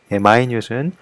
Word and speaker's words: minute: 형용사에서 minute은요, minute이라고 읽습니다. 예, 발음조차도 달라져요. 그래서 아주 소량의, 아주 작은이라는 의미를 지니게 돼요. 다시 한번 minute은 minute이라고 읽고 소량의 작은이라는 형용사가 됩니다.